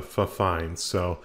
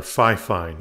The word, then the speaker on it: Fifine: you're hearing right now, over to the Fifine, or Fifine, I guess it's pronounced.